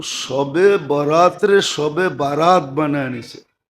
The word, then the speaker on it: বারাত: শবে বারাত বানায়া নিছে একটু ডিস্টেন্স উচ্চারণের ডিস্টেন্স আর কি নাইলে লিখতে একরকমই লেখে লিখতে তে একরকমই আরবিতে একরকম উর্দুতে আরবিতে একরকমই লেখে কিন্তু উচ্চারণে ডিফারেন্স একটা হলো বরাত আরেকটা হল বারাত একটা হলো মুক্তি একটা হল চলন মানে আকারের পার্থক্য আর কি আকারের পার্থক্য কল লেখতে